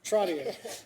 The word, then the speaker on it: Trottier: Trottier, the president of the National Association of Food Distribution Programs on Indian Reservations, Fort Trotton, North Dakota.